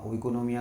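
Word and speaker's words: οἰκονομία: क्या ओइकोनॉमिया इसके के ओइकोनोमिया को ओइकोनोमिया ही बोला जाता है।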